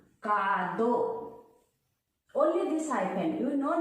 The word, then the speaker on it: カード: The same rule also apply in katakana, but there we just put a hyphen like kado. Only this hyphen. You no need to write a. Takushi. Supa. Like, okay?